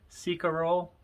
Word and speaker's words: Cecarol: like c carol c-e-c-a-r-o-l i asked them how do you pronounce it seek a role it's how they said to pronounce it and uh anyway